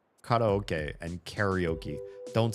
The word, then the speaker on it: karaoke: It's pronounced karaoke. We in America call that carry oki is ka ok koke.